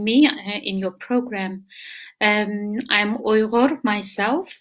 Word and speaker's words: Uyghur: I'm Uyghur myself. A lot of people cannot even spell or pronounce the name because it's very much Arabic sound, Uyghur.